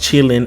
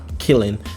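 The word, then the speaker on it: Qilin: contrary to popular belief it actually is actually pronounced chilling and not killing I had to research that before I made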